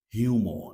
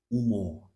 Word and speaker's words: humor: me who speaks English, I don't hear the letter H. They don't say humor like we say in English. They say humor, humor. It's like the H is silent. They start pronouncing the word just from the U.